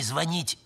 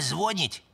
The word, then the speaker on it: звонить: Типа не звонить, а звонить?